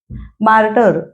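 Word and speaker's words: martyr: freedom fighter स्वातंत्र्य सेनानी मार्टर याचा उच्चार मुद्दाम लिहिलाय कारण शब्द वेगळा आहे मार्टर स्पेलिंग पण पहा एम ए आर टी वाय आर मार्टर म्हणजे हुतात्मा आणि मार्टडम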